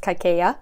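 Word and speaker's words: Kaikeyi: learned with the audiobook that this is actually pronounced kaikeya even when I say it like that which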